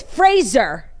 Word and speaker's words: Fraser: sitcom Frasier Frazier says his name actually rhymes with razor so it's Fraser okay that's pretty similar